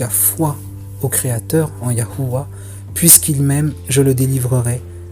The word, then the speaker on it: YHWH: lettres latines d'ailleurs, et qui se prononçait au moins Yahuwah.